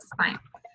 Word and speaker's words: sin: So it looks like it's sin and it's pronounced sine.